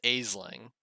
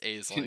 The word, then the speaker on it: Aisling: My name's Aisling.